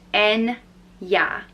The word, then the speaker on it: Enya: name is Enya and it's pronounced n yeah and yeah and it